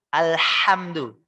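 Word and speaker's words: الحمد: Harusnya kita membacanya dengan huruf H yang tipis. H yang kecil. H. Ya. H yang dari tengah-tengah sini, Pak. Tengah-tengah tenggorokan. H. Alhamdulillah. Ya. Alhamdu. H-nya pakai H kecil. Tapi kita bacanya menggunakan H yang besar, Pak. Alhamdu. Awas, ini hurufnya berubah, Pak.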